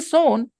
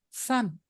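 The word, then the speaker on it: son: Lieutenant to understand this you can simply understand with this with the word s o s o is so and you add n so how does it change it should be sown because it was so but no it will become Sun you have to2 you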